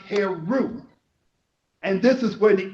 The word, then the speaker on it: Heru: She gave birth to her son, whose name is spelled Heru and pronounced Heru.